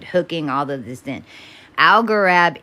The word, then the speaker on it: Algorab: Algorab is Al Gore AB. It's how you spell it.